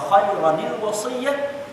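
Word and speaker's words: خيرا الوصية: Iaitu kutiba alaikum idza hadara ahadakumul maut in taraka khairanil wasiyah, sampai situ. Habis satu kuliah. Ya, kita bahaskan tentang apa dulu Pak wasiat. Ya. Dan bacanya khairanil wasiyah. Ra itu bertanwin, berbaris dua.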